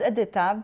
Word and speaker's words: Edyta: Is that how you say your name, Edyta? Yes, it's Edyta, but if you cannot pronounce my name, you can call me Sweetheart, Doll, or there Honey.